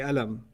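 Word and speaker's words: قلم: It's pronounced with a q. Yeah. Right? There are places in the Arab world where they say alam. Alam. Okay. And alam is their word for what? Qalam. They're like, too much work to pronounce the qa. It's alam.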